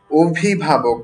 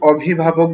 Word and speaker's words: অভিভাবক: আমি শব্দটির উচ্চারণ করেছি অভিভাবক। আমি কিন্তু অভিভাবক বলিনি। শুরুর যে অটা আছে এটাকে আমি ও এর মত করে বললাম।